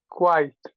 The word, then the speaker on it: quiet: it's one if this is one vowel sound this is I I that's a that's one vowel sound in English and when you have combinations like this the first sound is Big this is why big small vowel sounds is very important to understand the first sound is big but the second sound is very small I I so so it's one it's one sound it just has a little I at the end I i i i